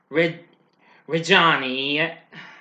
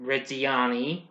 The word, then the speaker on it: Reggiani: The film has a pretty big cast that stars world-famous pop star Lady Gaga as Patricia Reggiani, I mispronounced that. Reggiani, the wife of Mauricio